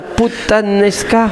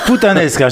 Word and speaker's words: puttanesca: Alors de mieux en mieux la prononciation. C'est vrai? Oui, bravo. Alors la recette d'aujourd'hui, on appelle ça la puttanesca.